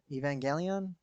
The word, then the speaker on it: Evangelion: suit's very um inspired by neon genesis evangelion evangelion that's how you say it um and there's